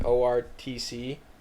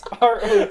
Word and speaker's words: ROTC: all old men that probably were like an ORTC. Is that how you say it? R. Would I say OR? ORTC. It's ROTC.